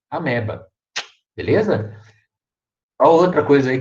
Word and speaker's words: amoeba: né mas é amoeba se escreve amoeba mas a leitura é a merda é merda olha tem onde ir ameba beleza a única coisa